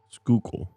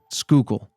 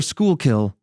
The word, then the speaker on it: Schuylkill: loop wait what yeah it's s c h u y l k i l l skookul skookul all right or School kill is the other pronunciation we saw online what yeah all right